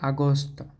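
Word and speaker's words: Agosto: লুলিও তারপর হচ্ছে আগস্ট আগস্ট হচ্ছে আগস্ত এটা আ এর মত হইছে আগস্ট আগস্ত আগস্ত তারপরের গুলো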